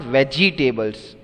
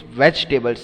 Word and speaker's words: vegetables: see this is not veggie tables many of you pronounce it very badly vegetables no so if you are pronouncing it it is wrong it's vegetables second e is silent so anyways uh pronunciation